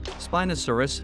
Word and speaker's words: Spinosaurus: Name meaning, spiny lizard, pronunciation, Spinosaurus, food habit, carnivore, who named, Ernst Stromer von Reichenbach.